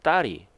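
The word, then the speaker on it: 大理: 어 리라고 하는 것인데 중국 발음으로 따리 우리말로 우리 한자로는 데리야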